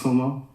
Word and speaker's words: Cuomo: Chris Cuomo.